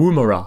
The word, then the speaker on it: Woomera: we've got to get this pronunciation right, haven't we? Woomera.